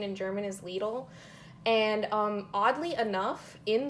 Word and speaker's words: Lidl: video for lidl um i've also heard it pronounced lydle um but i looked it up on the internet before doing this video and it says that the connect pronunciation in german is lethal and um oddly enough in the store um